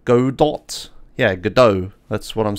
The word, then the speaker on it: Godot: problem um it's pronounced God do yeah gdo that's what I'm saying look up the pronunciation it is gdo it's like French or whatever you don't say the T um has anyone played